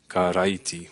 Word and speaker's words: karaiti: But the R's are like in Spanish. So when you see an R there that says karaiti, it's pronounced karaiti, which is the word for Christ.